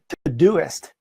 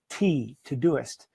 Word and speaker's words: Todoist: The next one is Todisit. So it's spelled T-O-D-O-I-S-T, Todisit.